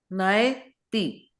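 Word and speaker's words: naiti: Nai Nai. Yeah. Nai. Ai. O Ai. Nai. Give it a punch. Yeah. Nai. Open your mouth when you are pronouncing it, right? Nai. Right? And then ti. Okay. Nai ti. Okay.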